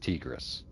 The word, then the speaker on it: Tigress: control of tigis Tigress I don't know why I say it every time like that probably because it should be pronounced tigis if it was Tigress it would have to be TI g e r s like you know tiger anyway I'm trusting that you